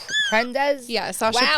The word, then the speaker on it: Prendes: It's Prendes. Yeah, Sasha Prendes. Prendes.